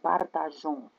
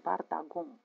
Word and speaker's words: partageons: la persoană întâi plural, vous devez intercaler un E. Trebuie să intercalați un E pour pouvoir prononcer J, ca să puteți să pronunțați J. Nous partageons. Si vous oubliez le E, dacă uitați, on doit prononcer nous partagons. Trebuie să pronunțăm nu partagon, este ne pas corect și nu este corect.